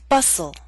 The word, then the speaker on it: bustle: say Christmas only Christmas now here's a list of words in which a t- sound is left out note that this list is not complete listen as I say the words bustle Christmas hustle mistletoe whistle wrestle now bustle and hustle